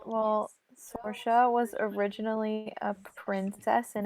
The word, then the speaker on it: Saoirse: I thought I was saying Sorsha to begin with, and then someone said Saoirse, and I was like, all right, I'll say Saoirse. I was like, you got it right.